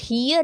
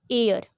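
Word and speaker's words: heir: पढ़ने लगेंगे या फिर हियर अगर हम इसे पढ़ने लगे तो फिर तो हमारे क्वेश्चन गलत ही होने वाला है ना। यह होता है एयर। क्योंकि यहां पे जो एच है ना वह साइलेंट है। तो यह हो जाता है एयर।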